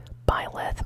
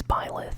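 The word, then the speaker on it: Byleth: probably know of island I actually hear people pronouncing his name as buyeth or P length but it's pilot at least that's how I've always said it but uh yeah new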